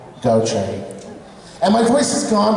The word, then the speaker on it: Gauthier: It's Gauthier. So you would say, it's kind of like G-O-C-H-A-Y, Gauthier.